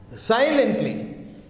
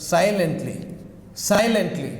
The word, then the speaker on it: silently: Silently. Stress is on the first. Silently.